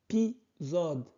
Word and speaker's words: épisode: S quand il est entre deux voyelles se prononce Z. Donc épisode.